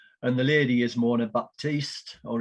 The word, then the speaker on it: Baptiste: And the lady is Mona Baptiste, or if you're from Trinidad, Baptiste, because the P is silent. Mona's family can't understand why we call her Baptiste, but there you go.